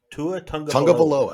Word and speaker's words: Tua: about miami and tua how do you say his last name again tua that's how you say it yes that sounds just